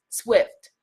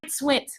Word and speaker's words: Swint: out Goddess Tracy Bryant Swift, right? Let me pronounce her last name correctly. The husband's gonna be like, why you always get the Bryant part right, not the Swint? Tracy Bryant Swint, all right?